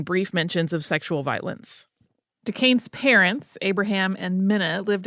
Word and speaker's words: Duquesne: in his life yeah if you hear someone who is a French speaker pronounce it particularly the way his parents spelled it it will be more like Duquesne uh where that a